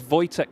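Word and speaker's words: Wojciech: Reminds me of uh a driver I used to commentate on called uh his name was spelled like Wajtech Swirid Dawitch. It was Voytech Sevidovich.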